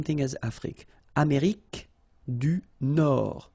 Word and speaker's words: Nord: Amérique du Nord. Final D, not pronounced.